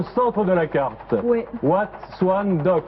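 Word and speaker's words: Wat Suan Dok: c'est le Wat Swan Dock.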